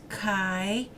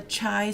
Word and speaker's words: chi: now this is pronounced chi if you've if your student it up at a university this is like the sweetheart of Sigma Chi the fraternity so it's not a chai square it's a chi